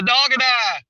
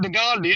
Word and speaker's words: Dog and I: It's not Dogandi. That's just what I call it.